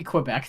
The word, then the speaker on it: Kweebec: have we ever heard the team say Quebec could it be Quebec the whole time yeah yes they've done